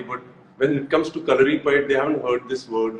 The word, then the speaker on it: Kalaripayattu: it but you but you tell me so color repaired with i'm so proud of the fact that